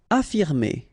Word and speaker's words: affirmer: Affirmer. Okay, even if we've got two F, well, only one should be pronounced, so affirmer.